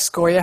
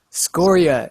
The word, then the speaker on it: scoria: of scoria yes um so it is in fact scoria how you pronounce it scoria noun a sindri a